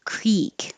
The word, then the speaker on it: creek: pronounced two ways but the first way is the most common Creek with the E vowel less common for the